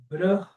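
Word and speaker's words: ब्रह्म: Uradanata, tem uma controvérsia sobre a pronúncia aqui, por exemplo, da palavra Brahma, porque com os professores que eu aprendo lá no sul da Índia, o canto védico, eles costumam enfatizar esse som do H indo para depois do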